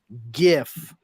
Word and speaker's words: GIF: GIF, not a GIF. I don't care what the guy who invented it fucking calls it. Graphics begins with a hard G.